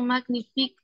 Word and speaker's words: magnifique: est poète poète et professionnelle ces chansons sont magnifiques et drôle c'est un vrai poète en effet